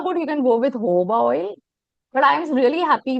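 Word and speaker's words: jojoba: Hoba actually pronounced Hoba.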